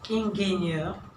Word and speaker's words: Ingenieur: Also, die Professorin, der Ingenieur, also be careful, we don't say Ingenieur, it comes from French, so Ingenieur.